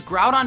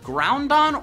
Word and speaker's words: Groudon: the most popular box art Legendary Pokémon are pronounced wrong such as Groudon being called groundon or Groudon and hoo being called ho ho